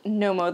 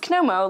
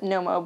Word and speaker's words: Knomo: It's called Nommo, the brand. It's spelled K N O M O, but it is not pronounced Komo like originally thought. It is Nommo because obviously the K is silent.